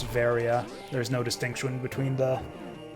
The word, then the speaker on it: Varia: the barrier suit because the word barrier is pronounced the same as Varia in Japanese it's battery out which is the same way you would pronounce Varia there's no distinction between